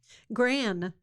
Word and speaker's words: Grann: Gran. Nice. Gran, but it's spelled Grann. Yeah, but it's my name with a "gur" in the front.